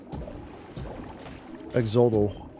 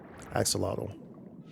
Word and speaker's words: axolotl: Exodal.